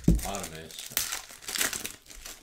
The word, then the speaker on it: Adames: Adames. That's how it's pronounced.